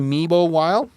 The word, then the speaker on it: Memel Wilde: That's how you pronounce it, Memel Wilde?